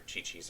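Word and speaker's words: Qiqi: And you notice I switched the team roster because I wanted Kiki's or Chi-Chi's, I can never remember how to say her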